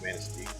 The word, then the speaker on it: Manistee: a small town that you can pronounce correctly because it's obviously a French word and it is Manistee.